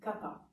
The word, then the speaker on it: kapa: Et pour être plus précis, à Hawaï, on prononce tapa. Le terme n'est pas tapa, mais kapa.